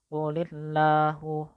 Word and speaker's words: qulillahu: Lillah qulillahu. Maka dibacanya harus tipis, tidak boleh qulillahu qulillahu. Kalau itu tebal atau taulid, tidak boleh seperti itu. Jadi harus dibaca tipis.